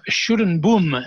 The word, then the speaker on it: Schuddeboom: And you need my husband to pronounce it properly. You've got to have that guttural sound happening, which doesn't sound very Schuddeboom.